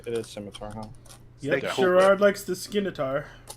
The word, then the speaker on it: scimitar: No, it's pronounced scimitar. The c is silent, but I know that I always pronounce it skimar because I think it sounds cooler.